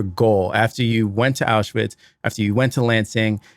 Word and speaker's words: Auschwitz: Going back to my question, you went to Auschwitz, and is that how you pronounce it? Auschwitz? Auschwitz.